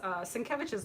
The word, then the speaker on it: Sienkiewicz: Wasn't it 2 weeks ago that Lawrence was like, I never knew how to pronounce Sienkiewicz's last name. Yeah. It's spelled like Sienkowitz or whatever. Yeah. It's pronounced Sienkiewicz.